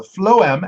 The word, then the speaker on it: phloem: Yeah, the phloem, and I looked up the pronunciation, Allie.